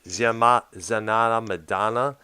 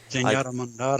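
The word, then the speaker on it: Zenyatta Mondatta: Zanata Madonna. I had trouble pronouncing that, Doctor, but I had that record. Zenyatta Mandata, I think.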